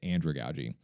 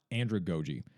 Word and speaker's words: andragogy: talk more about the ins and outs of Androogi and really what makes this so unique.